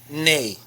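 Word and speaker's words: nee: yeah yeah means yes and this word is pronounced nay hear how i'm saying that a i'm not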